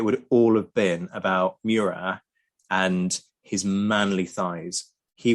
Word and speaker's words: Murat: Or Marshal Murat, as we should call him, to do the French pronunciation.